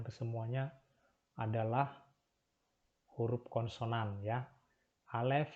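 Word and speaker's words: א: Yang pertama adalah huruf alef. Ya, ini adalah huruf alef. Huruf alef ini adalah silent letter ya.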